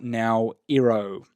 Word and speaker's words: Naoero: So the previous pronunciation was Nauru. It's now Naoero.